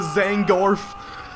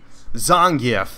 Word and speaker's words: Zangief: Oh my god, he just got messed up with Zangorf. Oh yeah. No, I'm just kidding. Zangief, that's how you say it.